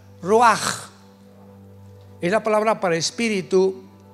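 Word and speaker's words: רוח: Apunta la palabra espíritu en el hebreo es como suena roach. Raúl u a c. Pero la ch en el hebreo se pronuncia como j. Roaj.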